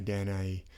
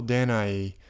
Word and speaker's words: Danae: Different people pronounce her name different ways, but I'll say Danae.